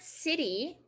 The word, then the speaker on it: city: not paused or stopped so it's not duh duh it's da da da da da in the word city why does that t